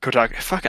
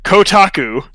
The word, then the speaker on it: Kotaku: some news came up from kutaku or kotak even i'm saying it wrong now kotaku that they got to